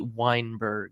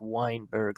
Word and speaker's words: Weinberg: The accountant's name is Lindsay Weinberg. It's a male. The last name is spelled differently. Lindsay, Lindsay, usually it's Wein, but this is wine, as in like the drink, Weinberg, Lindsay Weinberg.